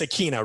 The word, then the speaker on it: Akina: If I have 2 versions, it's Akina, right? That's how you pronounce it.